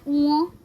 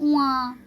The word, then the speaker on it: ঙ: अंतस्थ य ओकर ऊँ, इसका प्रोनाउंसिएशन है ऊँ। बहुत सारे लोग इसे कहते हैं ऊआ, या बहुत सारे लोग बहुत किस्म का कहते हैं, लेकिन एग्जैक्ट इसका प्रोनाउंसिएशन जो एक्चुअल जो प्रोनाउंसिएशन है वो है ऊँ, हसौ चंद्रबिंदु अंतस्थ य ओकर।